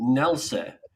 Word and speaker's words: Nelcy: Nelcy.